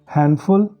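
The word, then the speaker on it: handful: और डी का जो कॉम्बिनेशन है उसमें डी साइलेंट होता है, एन की आवाज़ आती है, हैंडफुल, सैंडविच।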